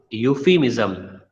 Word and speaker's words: euphemism: See, next is euphemism. Euphemism. E is silent.